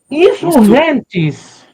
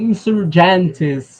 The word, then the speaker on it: Insurgentes: Insurrentes. Insurrentes. Que eu que eu não sabia que era essa pronúncia. Eu eu sempre falei insurgentes ou algo do tipo e não é mesmo.